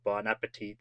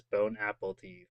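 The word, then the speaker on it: bon appétit: And then people joke about mispronouncing bonapetit as bone apple teeth in English.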